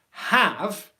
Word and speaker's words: have: condensation on there again that is how you want to make the h sound you want it to be so soft that it's just simply like breathing out and then whichever vowel